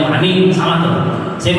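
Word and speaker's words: مانع: Ada syarat, ada rukun, ada mani'. Saya bacanya benar. Mani', mim alif nun ain. Sebuah pencegahan, bukan mani. Kalau mani bacanya maniun, sperma. Mani.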